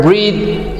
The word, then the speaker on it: breathe: thousand in thing but the word breathe has a sound at the end as in though in there the next pair we